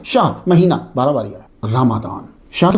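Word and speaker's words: رمضان: समझ आ रही है आपको रमादान हम नॉर्मली रमजान बोल देते हैं चलता है उर्फ में जो है लेकिन आप लोग जो है वो जरा भी ये भी ज़हन में रखा रखें असल प्रोनाउंसिएशन क्या है? रमादान कमरी साल के नवे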